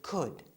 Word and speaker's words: could: And remember, we said that could always stays the same and that the L is silent.